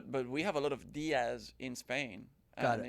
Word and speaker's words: Diez: No, it's spelled with an E, and I say Diaz.